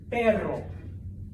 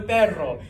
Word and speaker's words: perro: it one more time basically you make the front of your tongue flap up and down really fast okay the technical term all right that's the sound you're making okay so Clase perro please repeat that's not